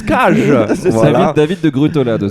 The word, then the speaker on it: Cage: David Cage, parce que ne l'oublions pas, il est français, ça se prononce Cage.